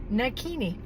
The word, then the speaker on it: Nakini: But, my yoga name, my spiritual name, is Nakini. Rhymes with bikini, but it's spelled n a k i n i.